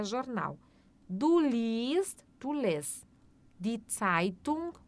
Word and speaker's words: liest: Então, cuidado, a gente não pronuncia o E, a gente só faz o I um pouquinho mais longo, tá? Então, ó, liest.